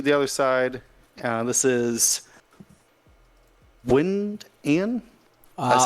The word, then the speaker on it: Wynand: This is Winand. I said it right earlier. Wynand.